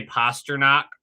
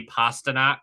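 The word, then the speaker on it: Pastrňák: Never be able to say pasture knock. It's always going to be pasta knock for me.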